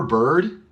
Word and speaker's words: bird: every word every word remember bird has the exact same sound as word actually there's a song that says bird is the word bird is the word and if you listen bird word even though we have an i we pronounce it like the o bird word bird word